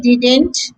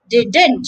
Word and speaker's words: didn't: are both wrong so to say this word correctly say did first did then add a net sound at the end didn't using your nose didn't and that's it